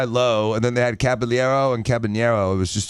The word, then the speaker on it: Caballero: The craziest trade I ever saw was this summer when the Yankees picked up from the Rays Caballero. Did I say it right? Cabanero? Okay, Cabanero.